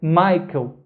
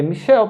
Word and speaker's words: Michael: nomes em alemão e o c h i e não é pronunciado igual no inglês que tem o som de que ele tem um som de x igual o português então não é michael em alemão é michel porque o ch é